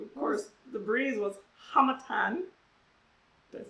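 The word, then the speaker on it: harmattan: Harmatan.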